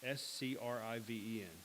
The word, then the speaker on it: Scriven: What a Friend We Have in Jesus was written by Joseph Meldicott Scriven. I think is how you pronounce it. Scriven. It's Scriven.